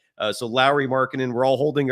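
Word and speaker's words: Lauri: just the other day his first name is is pronounced like Mike Lowry from the Bad Boys movies so Lowry Markin and we're all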